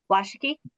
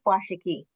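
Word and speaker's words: Washakie: Washiki. Washi. Okay. Chief Washiki.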